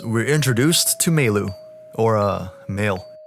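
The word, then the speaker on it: Mayl: As we leave the house, we're introduced to Meilu, or male. I know it's supposed to sound like male for email, but in the anime, her name is pronounced as Meilu, so I'm just gonna call her that.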